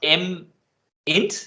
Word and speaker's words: mint: name of your ep is it pronounced m int or m-i-n-t i i would pronounce it mint just like like yeah like the plant but okay um you